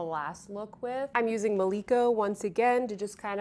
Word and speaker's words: Maliko: and I'm like, no, it's not Milko, Sophia, it's Maliko. At least I think that's how it's pronounced.